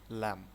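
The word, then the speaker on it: ل: লাম লামের উচ্চারণটা এভাবে হবে। লাম লাম মিম।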